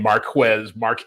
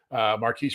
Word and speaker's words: Marquise: I've been saying Marquez for so long. I got to make sure I'm saying it right. Marquise Brown is a guy who's interesting because of his speed.